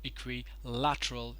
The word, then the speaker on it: equilateral: need not do that it is pronounced as equilateral and not later or something because many a times